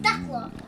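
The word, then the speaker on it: Thekla: This is her second Techla. I guess the H is silent.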